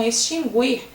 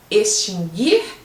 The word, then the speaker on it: extinguir: Muitas pessoas falam extinguir e também esta forma não existe. Extinguir e distinguir, assim é o correto.